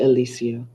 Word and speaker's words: Alicia: Um, you can call me Alicia. It's okay. That that is the correct pronunciation.